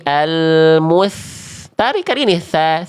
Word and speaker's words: ث: al mus tapi al mus tarik kali ini tsa tsa bukan sho sho.